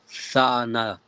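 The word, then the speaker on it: תאנה: Young man, do you want to tell us how we pronounce this word? Khan. That will be tha'ana.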